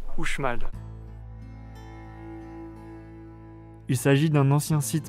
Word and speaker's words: Uxmal: On visite ensuite le site archéologique de Uxmal, attention qui s'écrit avec un X, mais ça se prononce Uxmal.